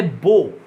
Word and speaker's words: beau: French চলে এসো, ফ্রেঞ্চে ও থেকে ওজ, BEAU, শেষে AU আছে, উচ্চারণ হবে বো, বো, বো মানে ফুলবাবু, বো থেকে হয়ে যাবে বোজ, BEAU, এক্স একটা এক্স জুড়ে যাবে, উচ্চারণ হবে বোজ।